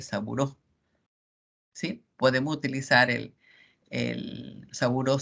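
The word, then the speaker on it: Sabouraud: es amo lo que se escribe así sambou graus pero se lee seguro si podemos utilizar el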